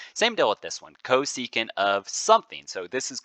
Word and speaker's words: cosecant: 1 over the x coordinate then we have cosecant of t so that's how this one gets